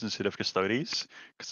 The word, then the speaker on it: Custodes: That name pains me a bit, like when people call them custodes instead of custodies, because it's like Adeptus Descartes. Is that how it's pronounced?